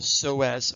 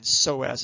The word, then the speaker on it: psoas: Ilio, and then psoas is spelled with a silent P.